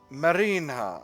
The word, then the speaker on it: Marinha: Marinha, obviously. Oh my goodness, I've been pronouncing that wrong in a way that was really dumb this whole time.